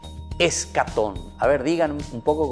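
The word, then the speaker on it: eschaton: La palabra es una palabra griega. ¿Y saben cómo se dice? Se dice escatón.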